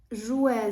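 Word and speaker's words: jouet: в кінці це гратись жуе з т на кінці не дуже видно жу на кінці це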